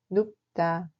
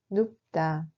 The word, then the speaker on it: 눕다: 눕다 se prononce comme 눕다. 눕다.